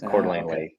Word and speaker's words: Coeur d'Alene: two home lakes so cda is coeur d'alene it's cordlingly um and then the